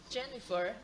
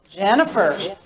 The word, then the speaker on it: Jennifer: Tell me which one is different in stress. Patricia, Regina, Jennifer, Alicia. Jennifer. Jennifer. Exactly.